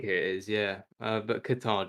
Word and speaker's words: Qatar: is yeah uh but qatar just sounds yeah katar's the right way so the people from guitar oh i was like i was on a youtube video he was uh he said you know you're actually supposed to say cotter yeah i remember them